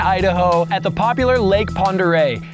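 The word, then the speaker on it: Pend Oreille: And now we are here in northern Idaho at the popular Lake Pere. It's spelled ridiculous like pandere, but it's Pere.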